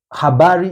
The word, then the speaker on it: habari: languages to learn because habari h h a b a r iari m z u r i I like the way the word is written is the way you pronounce it there's no much really